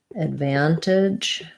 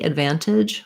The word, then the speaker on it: advantage: advantage advantage um advantage so the van is stressed so this one is going to be another reduced file kind of like an advantage i think i say that one more like uh advantage with an or an advantage because ah sounds a little harsh there to me um but we don't